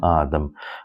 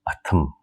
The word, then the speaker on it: adım: beginning suffix and then the letter T changes to the D. Yeah, meaning adım. We cannot say meaning atım. Meaning atım, that means my horse. So A is a long here in the first syllable. A is a long. That's why we change T to the D.